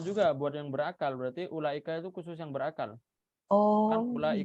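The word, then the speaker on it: أولئك: buat yang berakal berarti ulaika itu khusus yang berakal mulai kalau muslim ada wownya tapi wownya nggak dibaca dan lamnya dipanjangkan Gimana cara bacanya jadi ulah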